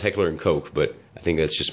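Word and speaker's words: Heckler & Koch: say i think it is actually pronounced heckler and coke but i think that's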